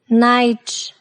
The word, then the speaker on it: night: Combination of GH is not pronounced when it comes after a vowel in a word. For example, high, light, thought, daughter, night, way.